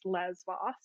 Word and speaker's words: Lesbos: from the island of lesbos it's just in modern pronunciation it's lesbos and she was an